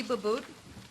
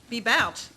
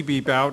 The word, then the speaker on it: Bebout: The first testimony will come from Babout. Did I pronounce that right? Bebout. Got it wrong. Former Skagit Harley-Davidson worker, IAM District 160. My name is Bebout.